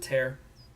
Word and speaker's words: Tyr: In Tyr's name, I pronounce it Tear.